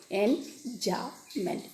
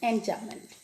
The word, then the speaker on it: enjambment: B is silent. Enjambment. Enjambment.